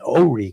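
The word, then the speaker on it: Horry: One in Wilmington in New Hampshire County and one in Ori County. That is the way it's pronounced.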